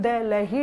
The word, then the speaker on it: दिल्ली: दिल्ली pronunciation दिल्ली, दिल्ली नहीं है, दिल्ली।